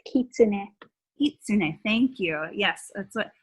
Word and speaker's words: kitsune: of the flames whatever yeah um also it's pronounced kitsune thank you yes that's what i need to